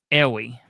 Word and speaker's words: Arey: Okay, so when I say his name, I say Brad Arey. Okay, he says Ehwee. Ehwee, Brad Ehwee.